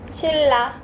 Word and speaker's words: 신라: 자, 2번 어떻게 발음돼? 신라. 신라. 무슨 현상? 유 유망.